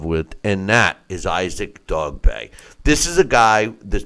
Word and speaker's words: Dogboe: did pick up this weekend was the proper pronunciation of some of these names I thought it was dog Bo same thing I thought Solinsky was selec but